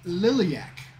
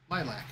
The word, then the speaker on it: Liliac: you listen to okay okay and they are pronounced liliac yeah I can I've up yeah and you stopped it as I see it as lilac lilac wouldn't have that second eye title track